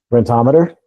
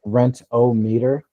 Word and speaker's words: Rentometer: Rentometer. Rettometer. How do you spell that? R E. It's spelled like rent o meter.